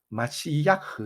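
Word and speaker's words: מָשִׁיחַ: 히브리어로는 이제 마시야흐 이렇게 발음하는데요.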